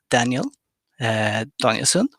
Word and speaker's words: Daniel Danielson: oxygen in cell biology my name is daniel danielson with the swedish pronunciation and i work as